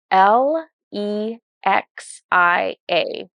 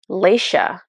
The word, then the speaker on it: Lexia: she it's funny she the name she picked was l e x i a and so you would think that was Lexia but she was pronouncing it Leisha um so she walks